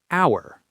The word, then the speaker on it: hour: The silent H at the beginning of some words, often words with French origins. For instance, the word hour. Right, no H sound. It starts with a vowel sound.